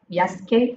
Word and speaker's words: Jaeschke: is a pleasure to introduce today's speaker Yas am I pronouncing your last name Yash Yash okay you I should have done the